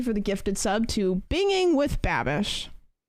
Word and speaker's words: Binging with Babish: berm thank you for the gifted sub to binging with babish it's not pronouncing either way one goddamn time do